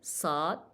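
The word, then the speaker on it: ص: Again, Saad, we pronounce it as a deep S or thick S, sa, sa.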